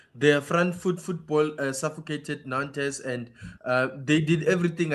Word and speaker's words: Nantes: Look, Len took on Nantz or in French maybe the T is silent.